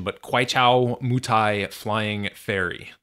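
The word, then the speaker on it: Kweichow Moutai: And this is, I'm going to butcher the pronunciation, but Guaichao Mutai Flying Fairy. Guaichao Mutai.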